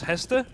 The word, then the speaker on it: Hester: And yeah, I don't know, should I say Haste or should I say Hester? It seems so weird. Because to me, he's Hester. So he's Hester. Right, well, I'll try and pronounce it as Hester then. I mean, he's Danish, you're Danish, Zio. You know him, and it's pronounced Hester.